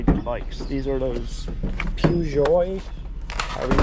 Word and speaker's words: Peugeot: These are those Peugeot. However you pronounce it. They're French, right? P E U G E O T.